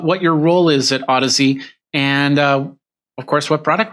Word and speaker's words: Audeze: I still, for some reason, I say Audeze. Every time I see it, I say Audeze, but it's Audeze. Audeze, as in Odyssey, as in the great Odyssey of having a good set of headphones.